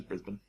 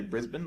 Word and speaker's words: Brisbane: Same as Brisbane.